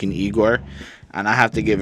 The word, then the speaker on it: Igor: except that it was called I Gor Igor sorry I even said it wrong I gave him a